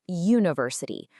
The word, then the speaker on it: university: Even though it starts with the vowel letter U, the sound you hear is a consonant Y, like university.